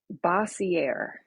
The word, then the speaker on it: Bossiere: It's a Bossiere.